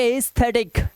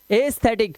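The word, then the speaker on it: aesthetic: देखो कह रहा है एई का मुख्य उच्चारण ई होता है ई मतलब लॉन्ग वाउल साउंड तो इसे क्या पढ़ेंगे इजेज इसे पढ़ेंगे एस्थेटिक क्या पढ़ेंगे एस्थेटिक और इसे क्या पढ़ेंगे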